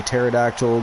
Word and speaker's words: pterodactyl: The P is silent. That is that is why you cannot hear a pterodactyl going to the washer.